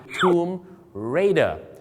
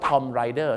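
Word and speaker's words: Tomb Raider: หนัง เรื่อง นี้ ครับ Tom Raider แต่ บาง คน นะ ครับ ไป ออก เสียง ว่า Tom Rider ถ้า ทอ ไรเดอร์ ก็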